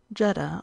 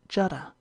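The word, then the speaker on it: Jeddah: supposed by the Persians jeda or jeda is the vulgar pronunciation and not a few of the Learned call it Jada the grandmother in illusion to the legend of Eve's tomb end footnote bergart in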